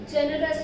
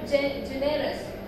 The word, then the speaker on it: generous: Stressing on syllable number 1. So he is a generous man. Here we are stressing syllable number 1. So it is not generous.